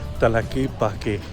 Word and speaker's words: Tlaquepaque: Ano siya i-pronounce? Talakipake.